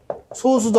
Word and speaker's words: 소수: 세 번째 소수도 아니고 합성수도 아닌 숫자를 골라주세요. 소수가 아니라 소수죠. 소수. 저도 자꾸 소수 그러는데 이게 소수가 아니라 소수입니다. 자꾸 습관이 들어가지고 저도 그러니까 소수 발음을 좀 강하게 말씀하셔야 돼요.